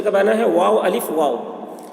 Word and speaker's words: واو: بنا ہے، واو الف واو. واو، دیکھیے یہ صحیح تلفظ ہے. کچھ لوگ وا بولتے ہیں، وا، تو وا یہ صحیح تلفظ نہیں ہے.